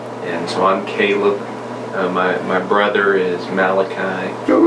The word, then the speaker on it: Caleb: But I haven't met too many Calebs. Guys, how's it pronounced?